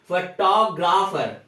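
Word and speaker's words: photographer: फोटोग्राफर फोटोग्राफर बोलते हैं, but actual में जो करेक्ट प्रोनाउंसिएशन है फोटोग्राफर, फोटोग्राफर। फ के बाद ट पे जोर देकर फोटोग्राफर, और र को कंप्लीटली पूरा र नहीं पढ़ा जाता, थोड़ा सा हाफ 50% या थोड़ा सा फोटोग्राफर।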